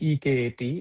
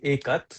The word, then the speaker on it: Ekat: But anyway, the company the name is spelled as E K A T, Ikat.